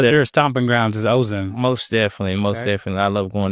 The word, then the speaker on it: Ozan: So you like fishing and you like doing that in Ozan? Ozan. How do you spell that? Ozan. Ozan. So like Ozark, except with an N.